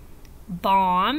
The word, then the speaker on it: bomb: We do not hear the B in words like lamb and thumb and dumb and bomb. So anytime you have MB together, you're probably, or it's not a probably, anytime you have MB, you're going to only hear the M. The B is silent.